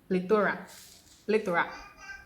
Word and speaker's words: plethora: And so the last but not the least word here is Plethora. Plethora. That is plethora. Right? Plethora. I just discovered that pronunciation myself.